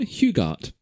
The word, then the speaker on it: Hugart: It's not Huge Ass, but it's not Hugart. It is Ron Hugart. Hugart. Like Gal Gadot. Like Gal Gadot, actually.